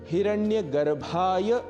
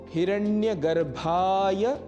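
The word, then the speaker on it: हिरण्यगर्भाय: ओम हिरण्य गर्भाय नमः यहां ध्यान रखना है। हिरण्य गर्भाय नमः यह बोलना है।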